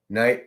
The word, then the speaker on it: knight: you to know this knight of cups remember the K is silent for the entire to